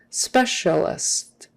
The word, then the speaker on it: specialist: the middle the sounds the letters cia are pronounced as an sh like an sha sha specialist specialist uh have you